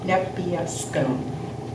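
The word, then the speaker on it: Nepeuskun: never say it right, Nebiescum. Yeah, you said it, right? Did I? It's an Yes. N at the end, not an M. Nebiescum.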